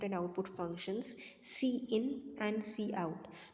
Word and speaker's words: cout: output functions, cin and cout. Now don't pronounce it as count. Okay, most of the students pronounce this one as count. This is your cin, this is your cout.